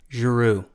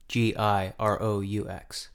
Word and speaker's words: Giroux: Giroux. Giroux.